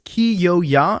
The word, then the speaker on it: Kyoya: just want to say their pronunciation is so confusing for me it's ki yo ya and they said the yaw is like y'all like like that's only i don't know but they said y'all like the southern term that